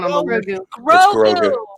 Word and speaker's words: Grogu: That's For the record, for the record, Baby Yoda, Gorgu, he was the number 1 on the list. Grogu. It's Grogu.